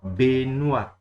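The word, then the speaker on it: Benoît: I see a lot of people who say rubbish here, but the easy way to pronounce this is following. Okay, let me just put the following this thing, you see it is pronounced Benoit.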